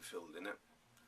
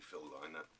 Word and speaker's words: Phil Lynott: to include phil lynott I've heard people pronounce name filled in it I've always understood to be filled liner I don't know which is correct but you know who